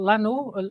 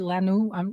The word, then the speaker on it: Lannoo: Well, currently it's only available straight from the publisher, which is called Lano. You would English speakers would pronounce it Lano.